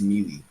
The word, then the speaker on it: melee: It doesn't matter because when you look at the way it's spelled and you enunciate it, it's melee. It's all right. M-E is me. L-E-E is Lee. Me, Lee.